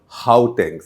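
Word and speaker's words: Gauteng: a small one of their smaller provinces called how tanks spelled with a g g-a-u-t-e-n-g that is the province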